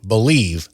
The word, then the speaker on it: BLEAV: Make sure to use promo code BELIEVE, that's spelled BLEAV, to receive your rewards.